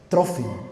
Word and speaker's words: Trófimo: Trófimo, así, Trófimo, con acento en la o.